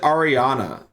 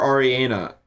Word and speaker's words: Ariana: Most of mine are probably memes or Ariana Grande sounds.